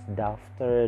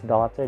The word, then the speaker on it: daughter: word daughter sometimes they would read it as doctor doctor doubter that's daughter d-a-u-g-h-t-e-r daughter next is